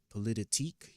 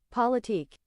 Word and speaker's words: politique: I think it's polit politique.